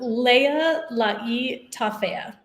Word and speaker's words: Lealaitafea: one more time don't worry if you can't pronounce it it's totally not like just stephanie but say it one more time um leia lucky toffea perfect beautiful thank you so much said i